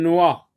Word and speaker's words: noix: Une noix. X ne se prononce pas.